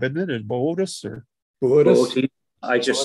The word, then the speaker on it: Boötes: That B-O-O-T-A-E-S is pronounced Boötes at the top, isn't it? Is Boötes or? Boötes. I just say Boötes. Yeah. Yeah, forget the umlaut. Just pronounce both O's.